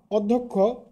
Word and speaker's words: অধ্যক্ষ: মত হয় আবারো বলছি আদ্য ও এর পর জ ফলাযুক্ত ব্যঞ্জনবর্ণ থাকলে ও এর উচ্চারণ উ এর মত হয় যেমন অধ্যক্ষ তোমরা এখানে লক্ষ্য করে